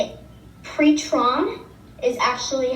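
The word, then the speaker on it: πτερόν: Pretron is actually how you say wing.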